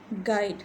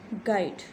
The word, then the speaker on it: guide: गाइड, ये word गाइड है. ठीक है, यू साइलेंट है, गाइड.